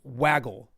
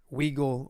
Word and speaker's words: Waggle: But it's Waggle, not Wiggle or some other things that people have pronouncing pronouncing it as.